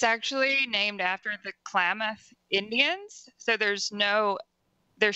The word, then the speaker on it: Klamath: Library to ask what do you say it's Calla math is the correct pronunciation the interesting fact about this one is that it's actually named after the Klamath Indians so there's no there shouldn't be an